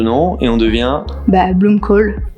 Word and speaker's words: Blomkål: et on devient bah bloomcoal pour les puristes BL parce que c'est un nom danois suédois et le a avec le petit ha se prononce h si on est puriste bon en tant que bon français on dit on dit tous Bloom cal ici donc c'est pas